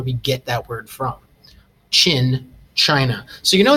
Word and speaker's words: Qin: To start off with, this word is pronounced Qin. Not Quinn or Quine, but Qin, like this.